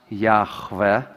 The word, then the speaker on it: Yahweh: You pronounce it Yahweh, or perhaps Yahweh, if we consider that third letter as V.